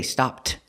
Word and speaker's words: stopped: pick up her order remember pronunciation stopped by the Tongue goes up but you don't really hear it of course you can say stopped she stopped by Walmart to pick up her order both ways are correct but usually you'll hear Americans not pronounce the tea so much she stopped by